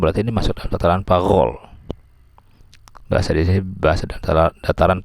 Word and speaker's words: parole: kemudian langoi bacanya long, kemudian parole bacanya parol.